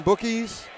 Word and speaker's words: Bookies: Tristan Bookies, which rhymes with cookies, is going to be after the intermission.